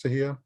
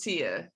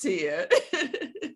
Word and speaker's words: Tiha: My name is spelled really odd, but the H is silent. It's just Tia.